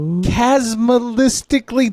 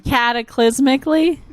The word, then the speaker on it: cataclysmically: oh which had a chasmalistically terrible nuclear war thousands of years before the show realistically cataclysmically yes that's the way to properly pronounce it magenta but with that